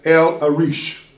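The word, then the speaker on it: El-Arish: is a Wadi uh entitled El arish Capital lower e l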